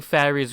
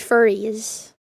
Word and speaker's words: furries: I think fairies were attacked most during this period, but towards the beginning of 2019... He's saying furries! He's just British. Okay. Okay. Yeah. It's pronounced furries.